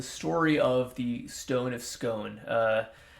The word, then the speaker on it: Scone: of the stone of scone uh I wish that was the real pronunciation it really show it's really Stone of scone which is kind of Less Fun but uh so this is